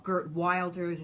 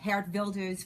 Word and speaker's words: Geert Wilders: I brought Geert Wilders, or Gert Wilders, as Americans say, Geert Wilders for the first time to the U.S., to CPAC.